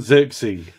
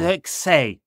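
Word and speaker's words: Zirkzee: Xerxes. Yeah. The way he says the Z is a sort of say. Yeah. If you listen to him, you can find him saying his own name.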